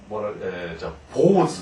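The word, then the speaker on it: 坊主: 그래서 이제 오보상은 스님이지만 중 이렇게 되면 어떻게 되냐면 중 하면은 뭐라고 읽냐면 보즈 이렇게 됩니다.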